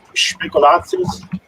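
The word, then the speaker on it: Spekulatius: pronunciation Speculatius.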